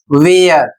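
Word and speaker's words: where: का उच्चारण करते हैं जबकि ह का उच्चारण नहीं करना है और इसको सही रूप से पढ़ना है वेयर वेयर का अर्थ होता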